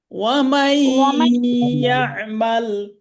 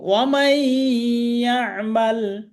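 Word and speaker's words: وَمَن يَعْمَلْ: ওয়ামাই ইয়ামাল। ওয়ামাই ইয়ামাল আচ্ছা, এখানে মাই পড়তে হবে, মান হবে না কিন্তু। ওয়ামাই ইয়ামাল।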